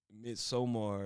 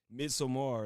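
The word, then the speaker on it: Midsommar: She like no it's not mid. It's like mid midsomar or something like that.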